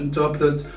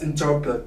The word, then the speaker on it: interpret: So when you spell it, you don't have to stress much on the R here. So interpret. Interpret. So you can forget about this specific letter. So R here is quite silent.